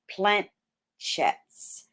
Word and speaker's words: planchette: in the mid-century, well before Ouija boards and planchettes were patented in 1890. Isn't that crazy? Now, let me make sure I'm pronouncing that correctly, because I did it earlier